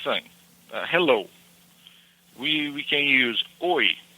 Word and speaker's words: oi: We can use oi. It's a simple one. It's spelled O-I.